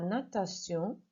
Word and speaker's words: natation: Natation, can't hear that final kind of N sound, natation.